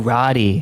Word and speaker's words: Roddy: Oh, Roddy. Is that what you call him, yeah, Roddy? yeah. He's from Scotland, and so his name is spelled very intensely. But yeah, Rod.